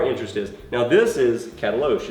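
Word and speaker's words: Katalox: It's spelled K-A-T-A-L-O-X. It looks like Catalox, but it's called Cataloche.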